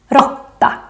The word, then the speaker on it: råtta: More examples of the long and the short å are in these two animals. Mås, råtta. Mås, råtta.